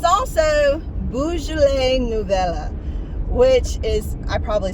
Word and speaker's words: Nouveau: It's also Beaujolais Nouveau, which is, I probably said it wrong, Nouveau. It's Nouveau, Beaujolais Nouveau.